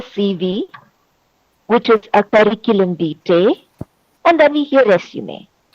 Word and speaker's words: vitae: also need to pay special attention to the pronunciation of the word curriculum vitae.